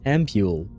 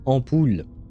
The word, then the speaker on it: ampoule: He has no need for water, and the medicine in the I think you guys in English pronounce this ampule, but it should be pronounced ampoule.